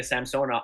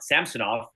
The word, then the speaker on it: Samsonov: has been solved uh looks like Elia samsona samsonov I'm gonna say it right one day the problem